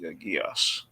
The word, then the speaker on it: Geass: I think it's actually Jacob told me it's pronounced Geass.